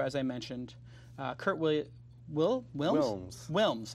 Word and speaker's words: Wilms: Wilms. I'm about to say Williams, but Kurt Wilms. Kurt Wilms. W-I-L-M-S, Wilms.